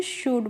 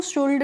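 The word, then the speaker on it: should: तो इसको हम क्या पढ़ते हैं? शुड पढ़ते हैं। इसको शुल्ड नहीं पढ़ते हैं। यहां पे जो एल्ड होता है वो साइलेंट होता है।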